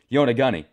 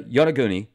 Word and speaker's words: Yonaguni: I still am probably not pronouncing it properly, although I am pronouncing it the way that that website said to. Yonaguni, off the coast of Japan.